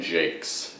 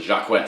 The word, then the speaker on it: Jacques: the red wall series by Brandon Jakes and not pronounced Jacques which is what I thought for the longest time it was one that